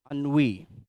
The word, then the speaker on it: ennui: It is pronounced as ennui.